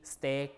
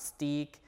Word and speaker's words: steak: E uh here Midway uh break not break steak not stick great not greet so there are some exceptions